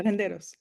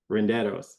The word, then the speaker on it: Renderos: As Stephen, and I promise I don't mean to say the last name wrong, but Stephen Renderos. Is that right? Yeah, Renderos. Renderos. See, I can roll my R, okay?